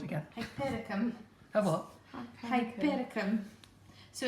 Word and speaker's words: Hypericum: Hypericum. Oh, what? Hypericum. So it's spelled You said it.